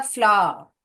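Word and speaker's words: flour: फ्लावर। फ्लावर, जैसे कि ये फ्लावर का प्रोनाउंस करते हैं ना, तो ये भी इसका ही सेम। फ्लावर, फ्लावर ऐसे प्रोनाउंस करने का।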